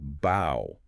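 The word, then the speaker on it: bough: Think about words like bow b u g. Like a tree branch, right? Rhymes with cow.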